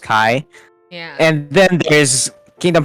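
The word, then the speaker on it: χ: Like the Greek letter Kai, so it kind of looks like an X, but it's actually pronounced Kai.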